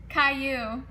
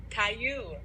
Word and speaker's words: Caillou: Also, how do you pronounce this? Is this Caillou? Caillou. Caillou.